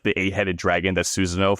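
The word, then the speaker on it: Susanoo: the eight-headed dragon that Susano fights or Sissano, I think is how you say his name.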